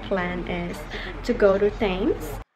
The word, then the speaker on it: Thames: So today our plan is to go to Thames. It's actually pronounced as Thames.